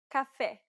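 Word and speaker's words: café: is e ja meta Cafe this vowel sound is identical to the e in set it's known as the open e sound in Portuguese e H eh eh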